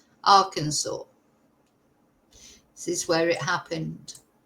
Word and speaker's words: Arkansas: At least I'm pronouncing it right now. Arkansas.